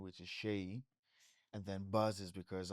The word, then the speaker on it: Seyi: just Shay Buzz.